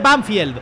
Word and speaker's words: Banfield: Me lo habéis dicho algunos. Se pronuncia Banfield. Otros no me habéis dicho Banfield. Yo qué sé. Banfield. Se dice Banfield.